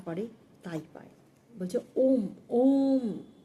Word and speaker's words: ওম: হয়েছিল ওম নিয়ে দেখবেন আমরা যখন ওম উচ্চারণ করছি তো ও আপনি দেখুন আপনার জীব নড়ছে না ও জীব কিন্তু তালুতে ঠেকছে না ওম যখন বলছেন একদম